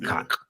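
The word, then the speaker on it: Kaak: That's his name, Hudson Cock, and it's pronounced that way too. Hudson Cock. Stop saying it like that, though. You ain't gotta say it like that. You ain't gotta say it. That's how you say his name. It's Cock. K-A-A-K. Cock.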